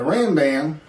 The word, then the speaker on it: Rambam: The Rambam, I think this is how you say it,